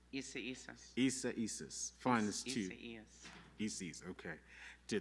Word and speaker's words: Isaias: What is the correct pronunciation? Isaias? Isas.